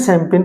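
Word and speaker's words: champagne: सीएच जो होता है यहां पे से की साउंड देता है। तो सैंपेन की स्पेलिंग जनरली याद नहीं होती जल्दी सी। तो यहां पे सी एच एम पी अब इसको ऐसे चम पैगने नहीं पढ़ते। इसको क्या पढ़ेंगे हम? सेमपेन पढ़ेंगे।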